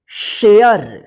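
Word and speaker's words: share: इसको देखिए यहां पे रूल्स इसका कि जब किसी वर्ड में ए के बाद लास्ट में आर ई रहता है तो इस ए का ए उच्चारण होता है जैसे यहां पर देखिए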